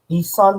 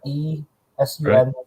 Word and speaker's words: eSun: eSun, like ESUN, eSun PLA Plus. And that's typically what also comes with what Micro Center with their inland filament. They also white label the PLA Plus from eSun.